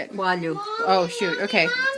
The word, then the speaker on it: coalho: Coalho.